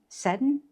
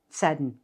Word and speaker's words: Seddon: One of the add-ons was 59 Minutes by Holly Seddon. Seddon, I think is how that's pronounced.